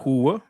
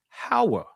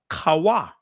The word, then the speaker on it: Hawa: Her name is not Hua. Her name is Hawa or Kawa. Either way, how you want to pronounce it.